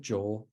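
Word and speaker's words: ϫⲱ: In Coptic, jo, the final D has gone away.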